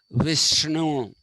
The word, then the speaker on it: Vishnu: if you're looking at it is to be pronounced as vishnu vish okay vishnu is not this ten-handed god